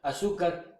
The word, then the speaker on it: azúcar: azúcar lleva el acento en la sub en la segunda sílva.